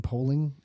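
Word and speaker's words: Poehling: So, Zebras was another trade for that guy Ryan Polling.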